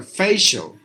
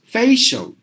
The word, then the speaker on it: facial: they are very common it's a facial not facial essential not like facial it should be like this a Fey show like this facial that's how we have to pronounce that word facial okay I hope